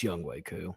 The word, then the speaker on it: Younghoe Koo: The New Orleans Saints 2-2 Coming off that Young Hoo Koo. It's Younghoe Koo, and he's you know where he went to school.